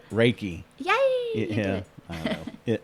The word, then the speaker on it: reiki: say it since i definitely have a trouble pronouncing you say it it's right reiki yeah yeah i don't know i call it reekie but that's ricky don't lose that that's right